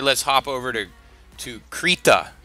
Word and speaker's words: Krita: hop over to to creat ax I think that's how you pronounce it it's kind of like Rita I'd imagine with a K the K I believe